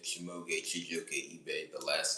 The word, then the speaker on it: Ebe: First, my government name is Chimuka Chijoke Ebe Chimuka Chijoke Ebe. The last name is spelled EBE.